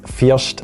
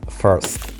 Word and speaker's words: First: that would be the first foreign yes it's pronounced as fierced and not first although you may think that this is the